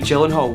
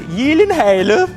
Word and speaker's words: Gyllenhaal: Taylor-Johnson and Jake Gyllenhaal, which I know I'm pronouncing wrongly, but it would sound absolutely ridiculous if I was to say it the right way. I have to help you with it. It is actually Gyllenhaal.